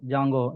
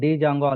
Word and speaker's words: Django: So for example pip install juno jungo here d is a silent letter that's why we are calling like a jungo. Okay, if you are calling like a Django also no problem.